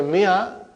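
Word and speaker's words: مائة: In the mi'a, alif is not pronounced.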